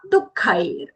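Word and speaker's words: dukkhaiḥ: The kha mahaprana with that ice cream wala I long sound, and then followed by that visarga. Visarga is being pronounced as hafra. The reason, because there is a sandhi happening here.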